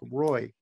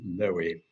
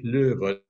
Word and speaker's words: Loewe: read as something like Roy. Pronunciation in this country and in the United States is Loewe. Once I take a plane or a ship to the continent of Europe, so heiß ich Loewe, nicht wahr?